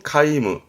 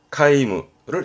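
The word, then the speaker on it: 海霧: 말하기도 합니다 연무였습니다 바다의 짜죠 해무 바다에 남깁니다 발음은 카이무 카이무를 해무합니다 뭘까요 사자성어 그렇죠 오리무중입니다 발음은 고리무츠 고리무츠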